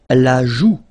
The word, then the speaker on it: la joue: La joue. La joue. Final E not pronounced here.